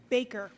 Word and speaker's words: Baker: Is it Dr. Baker? How would you pronounce that? Baker. Baker, okay. Just spelled funny.